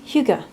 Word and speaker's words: hygge: for me it's a little bit of H Huga or H higgy or Hogie however people want to say but it's Huga but I say hugy because people probably can you know I relate